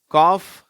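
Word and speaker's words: calf: பார்க்கலாம் அது வார்த்தைகள்ல பாருங்க காஃப் கல்ப் சரியா அந்த காஃப் என்ற வார்த்தையில எல் வந்து ரொம்ப சைலெண்ட் ஆயிடுது அது வந்து f மட்டும்தான் உச்சரிக்கப்படுகிறது கல்ப்ல ரெண்டு எழுத்துக்களும் உச்சரிக்கப்படுகிறது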